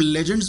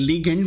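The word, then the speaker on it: legend: इस चीज को हम लेजेंड्स बोलते हैं, ये लीजेंड होता है, लीगेंड भी इसे अक्सर औकात प्रोनाउंसिएशन में लोग बोल जाते हैं, बस लीजेंड होता है सही लफ्ज।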